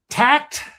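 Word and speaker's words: Takt: And I I I made some notes to myself here and I hope I am pronouncing this correctly. Tact t a kt.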